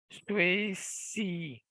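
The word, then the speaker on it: 学习: Kalau XI bacanya benar-benar sisir ya. Sisir. Jadi si nada 2. Nah, mungkin teman-teman mulai ragu. SHI misalnya nada 2 juga ya. SHI bunyinya shi yang 10 ya. Kalau ini 学习. Jadi diingat-ingat, oh XI bacanya sisir. Si nada 2 ya.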